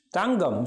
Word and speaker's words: தங்கம்: தங்கம் சொல்லி பாருங்கள், ஜி சவுண்டில் வருகிறது.